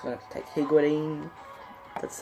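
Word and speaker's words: Higuita: gonna go for a striker it's gonna take higuity that's how you pronounce his name okay it's gonna take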